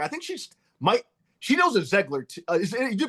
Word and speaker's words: Zeigler: Well, we always said Ziegler, like a, but it's wrong. Okay. I know it should either be Ziegler or Zeigler, but we just say Ziegler.